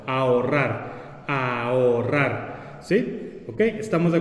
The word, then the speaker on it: ahorrar: Aquí hay una H entre la A y la O, pero como en el español la H no se pronuncia, sí se puede formar el hiato, ya que no la vamos a tomar en cuenta como si fuera una consonante que está en medio de dos vocales, porque no la pronunciamos.